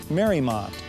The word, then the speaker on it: Mariemont: Mariemont is pronounced Mariemont and was named after Mary Emery's estate in Newport, Rhode Island.